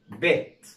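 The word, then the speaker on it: bit: طيب لو احنا هنا شلنا الاي، مفيش اي في الكلمه ديت، يبقى هنطق الاي كانه حرف الاي، كانها كسره، زي اقول بيت، يبقى نطقها ايه؟ بيت.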